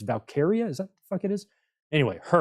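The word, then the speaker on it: Valkyria: can't say her name I keep wan to say Valkyrie it's not Valkyrie it's valkaria is that the [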